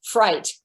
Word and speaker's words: fright: is in english because nothing is spelled the way it sounds fright f-r-i-g-h-t there's you know if